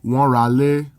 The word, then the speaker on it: wọ́n ra ilé: Note that in speech, this is pronounced like, wọ́n ra lé, because when a word ending in a vowel is followed by a word that begins with a vowel, they blend together.